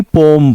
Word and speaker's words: poem: अगर आप सही प्रोनाउंसिएशन की उच्चारण की बात करें तो POEM को हम लोग पोएम नहीं पढ़ते बल्कि पोम पढ़ते हैं।